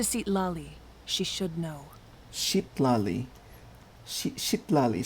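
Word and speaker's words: Citlali: Shitlali, so that's how you pronounce her name.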